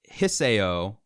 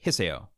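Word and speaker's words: Hisao: comes to Japanese names, you have to pronounce all the syllables and pronounce them fast. It's typically a good rule of thumb. So Hiseo would, I believe, be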